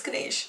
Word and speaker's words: Ganesh: the other thing is hips saying Ganesh its Ganesh that's good Asian I don't know why that bothers me so